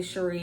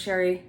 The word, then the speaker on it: Cherie: If I slip and say Cherie, it's because I took French and the way her name is spelled looks like Cherie. But it's Sherry, that's how she pronounces it.